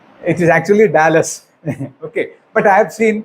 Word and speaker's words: Dallas: a l l in America how will you pronounce it is actually Dallas okay but I have seen people pronouncing it as delas delas as people in kotam say delas okay